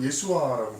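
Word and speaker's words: Yeshua: 예수님, 히브리어로 예수아라고 발음하는데요.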